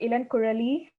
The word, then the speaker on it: Ilankuzhali: It's Ilankuzhali. It's tough to pronounce because I'm from India and it is my name in my native language.